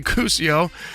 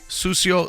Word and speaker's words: sucio: cucio Sanchez or sucio if you're if you're white you say cusio and that's a white people taco night and if you uh have heard the right way to say it it's sucio Sanchez so Lou Perez is